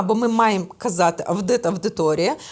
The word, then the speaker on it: аудиторія: Дивіться, якщо я маю кажу студентам, що правильно говорити аудиторія, то ще в 70-х роках виходив словник Погрібного. Угу. Де в транскрипції було написано, що вимова має бути тільки авдиторія, авдит, авдіювання, авдієнція.